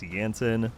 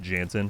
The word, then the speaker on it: Jansen: Starting with the significance behind the involvement of Magnus Yansen, which by the way, I've been calling him Magnus Jansen for all these years. Turns out I'm just terrible with name pronunciation, so my apologies.